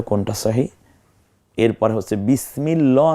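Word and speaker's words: بسم الله: কোনটা সহি এরপরে হচ্ছে বিসমিল্লাহ না বিসমিল্লাহ দেখুন বিসমিল্লাহ বারিক হবে আল্লাহ শব্দটা বারিক হবে এখানে আল্লাহ চমৎকার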